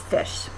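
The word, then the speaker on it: ghoti: So if you put all those together, you get G-H-O-T-I pronounced as fish.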